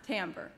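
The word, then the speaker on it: timbre: e it looks like Tambor but is actually pronounced Tambor it has to do with the unique sound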